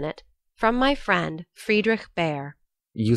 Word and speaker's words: Bhaer: Now don't laugh at his horrid name; it isn't pronounced either Bear or Beer, as people will say it, but something between the two, as only Germans can give it.